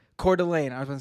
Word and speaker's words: Coeur d'Alene: soldiers parachuting in to cordial is it court this is that i i'm unfamiliar with idaho honestly how do you pronounce the city again uh it's coeur d'alene coeur d'alene i was gonna say